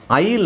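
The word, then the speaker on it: aisle: ಐ ಎಸ್ ಎಲ್ ಇ S silent ಆಗಿರುತ್ತೆ ಎಸ್ ಅನ್ನ ಉಚ್ಚಾರಣೆ ಮಾಡೋಂಗಿಲ್ಲ ಬರೀಬೇಕಾದ್ರೆ ಮಾತ್ರ ಬರೀಬೇಕು ಈ ಸೈಲೆಂಟ್ ಆಗಿರುತ್ತೆ ಸೋ ನಮಗೆ ಉಳಿಯೋದು ಉಳಿದಿರೋದು ಬರೀಬೇಕಾದ್ರೆ ಹಿಂಗೆ ಬರೀಬೇಕು ಬಟ್ ನಾನು ಉಳಿದಿರುವ ಅಕ್ಷರ ತಗೊಳ್ತಾ ಇದೀನಿ ಉಳಿದಿರುವ ಅಕ್ಷರಗಳು ಇದು ತಾನೇ ಉಳಿದಿರೋದು ಬಟ್ ಇದನ್ನೇ ಓದಬೇಕಾದರೆ ನಾವು ಹೆಂಗೆ ಓದಬೇಕು ಐಲ್ ಅಂತ ಓದಬೇಕು ಉಚ್ಚಾರಣೆ ಇದರದ್ದು ಆಯಿಲ್ ಓಕೆ ಇಂಗ್ಲಿಷ್ ಅಲ್ಲಿ ಆತರ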